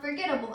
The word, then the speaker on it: forgettable: which is the teeth so it would become forgettable fo RG e TT a big L II